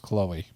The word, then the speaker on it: Chloe: than most so Chloe I always call her Klo and then my wife says it's pronounced Chloe Chloe Kardashian called out for black fishing with